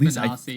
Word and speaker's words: Bonacci: uh I think I think as a side note I think it like it should be pronounced bonacci but he pronounces it basi. Basi. Okay. So he pronounced it bonasi.